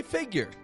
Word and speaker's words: figure: and as I said optionally you could add a y in there if you'd like to customize your pronunciation of that word will say personally I say figure so if you want to customize it to sound like my type of speech then get that Y sound in there making it more